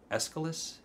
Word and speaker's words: Aeschylus: And then I read the Orestes plays, so Agamemnon, the Libation Bearers, and the Eumenides, the plays by Aeschylus, that's how you say it.